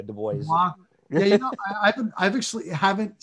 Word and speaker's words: Du Bois: Yeah, it's French, Du Bois, but yeah, Du Bois.